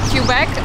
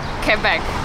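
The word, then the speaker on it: Québec: zobaczyliśmy to tak jakoś automatycznie wymawialiśmy to jako cubeg ale poprawna wymowa to quebe bo tak jakby Czytać po angielsku To wygląda jakby cubeg tak ale szendzie praktycznie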